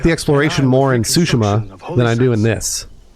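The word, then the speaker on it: Tsushima: foreign words no that's it's suima has pronounced sushima there is one thing I I know about them it is not suim Lord is the of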